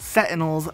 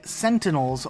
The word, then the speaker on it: Sentinel: people call these things sentinels but they're actually sentinels with an n before the T sound so there's two end zones in the right pronunciation these are scarabs not